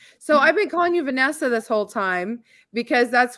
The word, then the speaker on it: Vanessia: was giving us but people pronounce it wrong they call me Venecia well that's what I thought it was until um then I saw Nessa and I was like I bet it's Vanessa so yeah yeah just the eye is silent just if she would